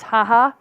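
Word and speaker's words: Jaja: guys ever heard of Jaa to pronounce haha tequila that is my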